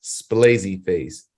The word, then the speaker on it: Splazzy Face: app store it is splazy face just like how it's spelled here s p l